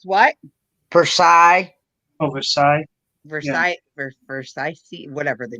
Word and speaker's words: Versailles: It's pronounced what? Versailles.